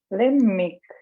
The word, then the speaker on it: lemmik: Или если сказать эти первые слова «хомик» одним «м», но мы выдерживаем ударение до конца слога «хоммик», «леммик», «kõrvits», «tüdruk», «hunnik», «seelik», «tuulik». Попробуйте произнести. Hommik, lemmik, kõrvits, tüdruk, hunnik, seelik, tuulik.